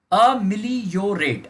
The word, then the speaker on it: ameliorate: AMELIORATE, अमिलियोरेट, अमिलियोरेट इसका pronunciation है, अमिलियोरेट, अमिलियोरेट, अमिलियोरेट, ठीक है।